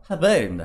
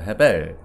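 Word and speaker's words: הֶבֶל: 근데 아벨의 히브리어는 헤벨입니다. 헤벨.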